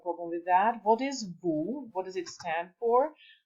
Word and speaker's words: vous: The combination of letters O and U is pronounced as OU, like in nous and vous, we and you. S is never pronounced at the end, and it denotes plural.